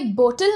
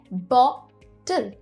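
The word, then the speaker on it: bottle: ये बोतल नहीं है, ये है बॉटल. ओ पे स्ट्रेस है.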